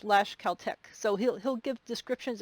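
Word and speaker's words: Tlaxcaltec: speaker to understand like there's a word that's spelled t-l-a-x c-a-l-t-e-c and then he'll say it's pronounced lash caltech so he'll he'll give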